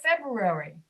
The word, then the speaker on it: February: Most people cannot pronounce brewery easily, so they eliminate the R. They say February, which is incorrect, but many people do it. They say January, February. It's not February, it's February.